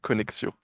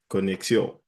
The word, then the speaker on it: Konexio: If you, if you want to get the French accent, it's Konexio. Connexion.